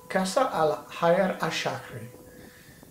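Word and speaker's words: Qasr al-Hayr al-Sharqi: It's pronounced Kasr al-Hayr al-Shakri.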